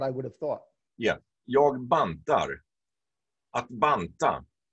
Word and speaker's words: jag: Another thing is when you have jag, that is I, you generally don't pronounce the G.